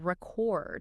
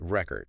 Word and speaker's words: record: If you put the stress on the first syllable, record, it's a noun. Like a vinyl record. Exactly. Like a vinyl record. But if you shift that stress to the second syllable, record. Okay. It becomes a verb. Like you're recording something. Exactly. So, same spelling, different pronunciation, different part of speech.